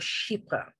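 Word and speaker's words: chypre: familiar with is a category called sheepa and take a look at the way it's spelt it's spelled c-h-y-p-r-e-s which is based on the island of cyprus and i actually went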